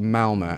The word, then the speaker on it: Malmö: away from her hometown in a city called Malmö, I believe it's pronounced.